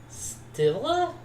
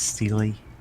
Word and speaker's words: stela: Stella? Stella. It's like a Steely. So Yeah. leaf pattern on the stela has shifted. Let's spin. Apparently, it is pronounced Steely.